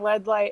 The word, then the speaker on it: LEDLite: led light hello hello thank you for saying that correctly i've like reconciled with it being led light as it also rhymes with headlight which is that works too that's also a bunch